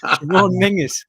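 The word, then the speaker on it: Menzies: men in Northern Ireland in Scotland you'd say mingis for that m in there are you joking's not sure now Mingus Mingus that's how you pronounce me n z IES in Scotland yeah I don't know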